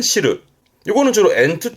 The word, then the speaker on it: 汁: 혼자 두면 발음은 시르는, 그렇죠. 들어보셨죠? 국물. 그 국물을 싫어하는데, 그래서 된장국이, 그렇죠. 미소시르. 그 된장국, 미소시르의 시루가 이 한자, 즙이나 국물을 말하는 시르.